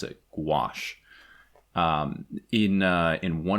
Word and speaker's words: gouache: worked in gouache see Josh I learned to pronounce it gouache um in uh in one of the issues